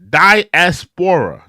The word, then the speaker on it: diaspora: warning warning War warning Nelly says it's pronounced like diaspora like uh yeah yeah I'm sorry about that yeah I could pronounce that yeah uh die diaspora diaspora yeah the African